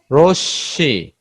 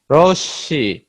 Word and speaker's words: রশ্মি: যেমন যক্ষা, যক্ষা, মহাত্মা, মহাত্মা মহান আত্মা, রশ্মি, রশ্মি, বিস্ময়, বিস্ময়।